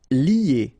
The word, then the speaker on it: lier: Okay, so it's interesting here because first you've got this li, and after that you get this a sound, you know, that normally we get when you get this er at the end of a word, or in most of the cases as of the verb, sorry. So you get lier, lier.